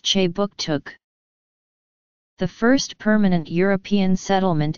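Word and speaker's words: Kjipuktuk: name for Halifax is K he puck chuck pronounced che book took the first permanent European settlement in the region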